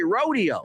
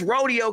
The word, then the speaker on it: Rodeo: In the hood, it's rodeo cuz that's the word. Now, when you get to the rich people, it says rodeo. It's a completely different street.